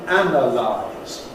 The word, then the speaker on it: analyse: letter zed but anyhow we'll all agree on the placement of the stress the word stress which goes on the noun in analysis but on the an in analyze and similarly for many many